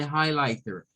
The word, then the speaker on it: highlighter: Nuevamente, miren, lleva la sílaba tónica en high, pero esta tiene tres sílabas. Entonces, la primera sílaba, la H, IGH, se reduce a high, high. Luego, la L, IGH, se reduce a lie, lie.